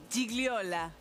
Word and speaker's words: Gigliola: Gigliola. Bastante. Un 9 te pongo. ¿Cómo es? ¿Cómo es? Perfecto. Casi pronunciable.